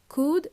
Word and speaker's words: could: We are going to use words could, would, and may. They help us sound more polite. Remember, could and would, L is silent. We don't pronounce the L.